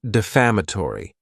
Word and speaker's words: defamatory: next is the word defamatory and this word has five syllables and the stress is on that second syllable defamatory it's not a